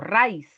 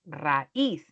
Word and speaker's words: raíz: generales Entonces por ejemplo si yo digo raíz al pronunciar no digo raiz noo raíz al encontrarse estas dos